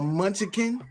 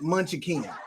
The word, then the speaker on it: munchkin: can a what a munchkin the two is two syllables munchkin not munchykin but different dialects from different